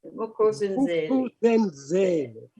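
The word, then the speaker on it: Vuk'uzenzele: You're going to have to go through that pronunciation again so we can all get that right, because I love Vikuzenzele. Vikuzenzele.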